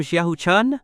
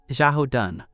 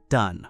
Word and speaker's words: Xiao Dun: That damn Xiao Chun. That's Xiao Dun. That character is pronounced Dun.